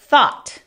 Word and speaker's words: thought: Nuevamente, ese A es como entre O y A en español, entonces escríbanlo con O o con A. La TH sin voz podría ser como la letra Z en español. Calzado, ese Th. Thought es pensamiento o el verbo to think, pensar, en pasado.